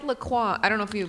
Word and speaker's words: La Croix: Oh, LaCroix? That's how you La Croix. La Croix? That's how you're supposed to say it? You don't Is know? that the real pronunciation? Like, it's a French word, right?